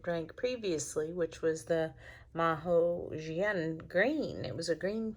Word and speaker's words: Mao Xie: this, and I have a cheat sheet for pronunciations. And so rather than just saying Mao Xie, I'm trying to say Mao Xie.